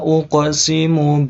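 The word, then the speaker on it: أُقْسِمُ: Fala uqsimu birabbil masyariqi wal magharibi inna laqadirun. Oke. Jangan lupa ini huruf qaf, karena disukun maka bacanya pakai memantul karena qalqalah, ya.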